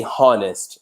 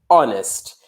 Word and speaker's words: honest: an exception right Molly when we look at honest in this vision you don't pronounce it we don't say harnest it's honest but most of the